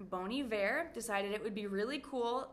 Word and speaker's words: Bon Iver: haat kan een indie folk rock art est bon iver bon iver design hebben be really cool ze nemen zelf